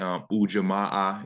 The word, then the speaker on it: Ujamaa: And again, Ujamaa is how you pronounce it.